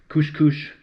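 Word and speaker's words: couche-couche: All right, there it is, my blue corn couche couche. Sometimes pronounced couche couche. I'm not saying couscous, which is a whole nother dish altogether.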